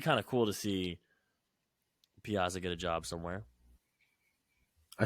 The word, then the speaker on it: Piazza: And then for Team Italy, Mike Piazza, because I'm Italian, so I'm gonna say it correctly. Piazza rocking that stash.